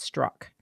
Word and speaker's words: Straka: So it's Straka, but it's pronounced Strock.